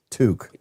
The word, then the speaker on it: toque: little zipper thing, the toque fun. Thank you, Jody. Thank you, Jody. Appreciate it. It's I always see I always pronounce that toque, but then y'all pronounce it took.